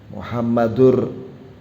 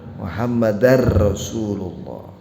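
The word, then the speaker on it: محمدًا رسول الله: klaim itu pengucapannya Hai ada lagi yang salah mengucapkan mazda6 muhammadurrosululloh Muhammadur harusnya Hai muhammadar Rosululloh karena ada Anne Hai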